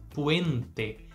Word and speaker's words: puente: puen puente de novo letra e no final não transforma em I Então diferente do que a gente faz aqui no português você vai manter a letra e com este som seja a primeira letra e ou a segunda letra e da palavra eu vou repetir ela